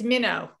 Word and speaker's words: Minnaugh: Did I pronounce it right? MINNAUGH? Got to unmute myself. It's MINNAUGH. MINNAUGH.